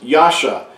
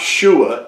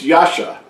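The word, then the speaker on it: יָשַׁע: number 3467 which is Yasha it's not shua it's Yasha and it means salvation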